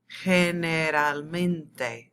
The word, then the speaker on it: generalmente: Generalmente. It looks really long and scary, but just say each syllable. Generalmente.